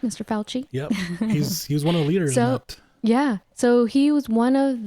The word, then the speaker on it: Fauci: Fauci?